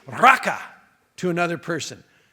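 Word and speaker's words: raqa: Don't even say raka to another person. It's spelled R-A-Q-A.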